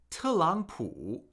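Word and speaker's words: 特朗普: Okay, this actually gets pronounced as four 23 because in Chinese when you have two consecutive third tones, the first in the pair is pronounced with a second tone.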